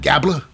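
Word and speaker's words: Gable: And with Otis, is of course, it's the Alpha Academy of Chad Gabla, rhymes with Tabla, Maxine Dupri, and Akira Zawa, because he's a meme right now, versus Shinsuke Nakamura.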